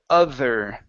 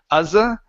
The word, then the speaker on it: other: Next, or last one for you is the word other. Okay, give me a TH sound here instead of uzza.